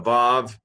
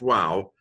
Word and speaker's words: vav: When you put the vav, by the way, vav could be pronounced wow, but I'm going to go with vav because that's the way modern Hebrew pronounce it.